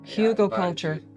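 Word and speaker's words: Hügelkultur: Hugo culture.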